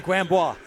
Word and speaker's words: Grambois: Saxton now taken away by the player Grambois and shot down the ice. Pronounce that for me, Larry. Grambois. Bois. No okay. S. Okay. S is silent. Pretend it's not there.